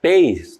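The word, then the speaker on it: pays: país a palavra vem do francês peis tá é mais ou menos essa a pronúncia realmente a origem da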